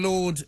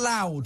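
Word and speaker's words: Laud: Alan Howling Lord Hope. And what is the Howling Lord bit about? L-A-U-D. What's What's that? loud? Why are you loud instead of Lord? Howling loud. Oh, it's Lord, L-A-U-D, L-A-U-D.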